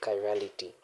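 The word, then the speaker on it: chirality: This is pronounced as kirality.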